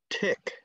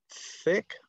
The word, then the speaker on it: thick: And it comes out, I know some of you Vietnamese speakers say this word tick, but that is a completely different word in English, okay? So if you want to learn how to say this word, you might want to talk to your teacher about making the theta sound, okay?